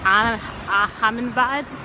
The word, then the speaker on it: Ahmedabad: I was thinking about going to Gujarat, a city called, I'm going to mispronounce it, but it's like Ahmedabad.